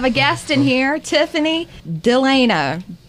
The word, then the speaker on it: Delano: And we have a guest in here, Tiffany Delano. Am I saying it right? You are saying it correct. Yesterday, I was telling him and Bug Eyes over there, I kept on saying Delano. Delano.